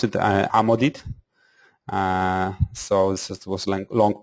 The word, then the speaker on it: Amodit: It's we pronounce it Amodit.